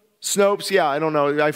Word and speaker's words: Snopes: sure I went to snoops is that what it's pronounced nope snoops Snopes yeah I don't know